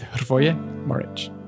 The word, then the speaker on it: Hrvoje Morić: In this episode, I spoke with Hrvoje Morić, and I think I finally nailed the pronunciation of his name here.